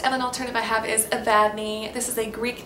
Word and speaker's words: Evadne: And I think someone who likes Evelyn might like Evadne because they're both three-syllable names that start with E-V.